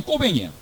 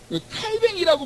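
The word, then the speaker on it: Cauvin: 그래서 원래 칼빈 이름이 장 꼬뱅이야. 칼뱅이라고 말하는 것도 발음이 완전히 프랑스 발음 아닌 거예요. 장 꼬뱅이야, 꼬뱅.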